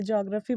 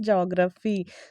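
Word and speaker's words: geography: ज्योग्राफी बोल देती थी, बट इट्स नॉट ज्योग्राफी। ज्योग्राफी बहुत लोग बोलते थे, मुझे बताओ तो कौन कौन, आप लोग कमेंट में सेक्शन में बताना। बट जो इसका करेक्ट प्रोनाउंसिएशन है वो है जियोग्राफी, ठीक है।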